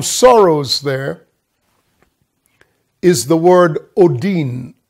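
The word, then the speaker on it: ὠδίν: and the term sorrows there is the word odin o d i n it's pronounced odin and it means birth bangs i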